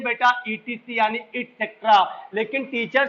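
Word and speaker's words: et cetera: हम बोल तो देते हैं बेटा ईटीसी यानी इटसेट्रा, लेकिन टीचर से अगर पूछो ईटीसी का जरा स्पेलिंग बताइएगा, स्पेल करिए, सॉरी वो नहीं बता पाएगा, ये गारंटी हमारी है। तो ईटीसी वो बोलेगा एक्स्ट्रा, एक्सेट्रा नहीं, इसकी स्पेलिंग पूछिएगा वो कंफ्यूज हो जाएगा।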